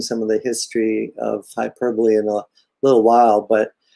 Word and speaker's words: hyperbole: let's get started uh hyperbole that's how you say it not uh how the british say it sometimes and uh you